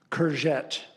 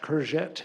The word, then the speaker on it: courgette: Clue was in the second pronunciation, courgette. It's Courge, and here's the French, Tte, double Te.